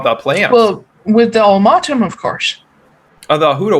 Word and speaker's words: Ulmatom: Put it in chat for you so you can spell it. Oh, no, I'll just make it up. Okay. Ulmatom. It's ulmatom.